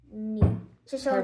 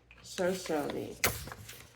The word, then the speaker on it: Shoshone: So these are the same 3 letters, aren't they? Yep. So you would pronounce them probably the same, wouldn't you? Yeah. So you would say, if you're saying show for the first? Yes, ma'am. Show. Mm-hmm. Show. Shoshone. Perfect.